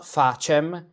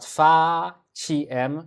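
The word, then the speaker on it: faciem: So, veni, veni et ostende nobis, fáciem, watch out, it's not fáciem, but fáciem, short syllable, that's why we have a longa before, because short.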